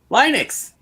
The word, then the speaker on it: Linux: That's tells you how to properly pronounce Linux. Linux.